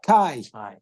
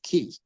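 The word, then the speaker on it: chi: a key but the the way we pronounce it is Kai but they pronounced it as key and the way we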